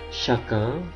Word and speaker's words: chacun: Brun coklat, chacun, CH dibaca sh, chacun.